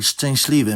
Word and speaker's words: szczęśliwy: They can both be heard in the word szczęśliwy, meaning “happy”.